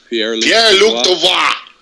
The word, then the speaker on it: Pierre-Luc Dubois: How you pronounce it? Pierre-Luc Dubois.